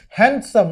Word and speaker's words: handsome: Okay, like in the same way we used to say handsome, not handsome. The D is silent.